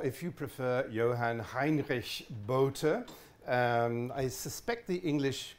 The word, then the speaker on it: Bohte: you prefer Johann Heinrich boater I suspect the English called him boat I don't know but if you think of his name as the equivalent of the straw hat boater that's roughly that the